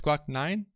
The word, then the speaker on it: Glock9: It's Glock9?